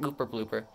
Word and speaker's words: Gooper Blooper: Gooper blooper.